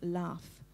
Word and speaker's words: laugh: At the end of a syllable in a word, we still pronounce it as f, like in laugh.